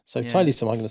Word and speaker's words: Tiletum: It's the Latin word Tiletum, something like that. So Tiletum, I'm going to say.